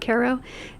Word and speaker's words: Cairo: Acra, New York, uh, which is inside the town of Caro, New York, spelled like Cairo, pronounced unfortunately like KO and we're in Green County.